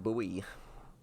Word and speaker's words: buoy: So much boy talk in New England. Yeah, I've heard people say it like boy. Nice to meet you. I've always heard buoy.